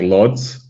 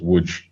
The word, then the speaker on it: Łódź: So it looks like Lodz. Yeah. But the L with the line through it is a W. There's an O with it, so it's Łódź.